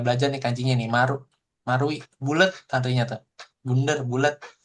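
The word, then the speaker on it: 丸井: Nah, ini tulisannya oi oi. Tapi kalian jangan bacanya oi-i, tapi bacanya marui karena ini bunder marui gitu seperti itu.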